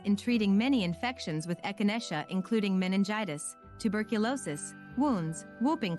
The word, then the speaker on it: echinacea: The next all-natural remedy on our list is echinacea, pronounced as echinacea.